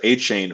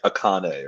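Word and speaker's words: Achane: running back yeah um I also learned it's pronounced a chain from you and it made me like him even more I was like saying like akane or something I mean I I personally would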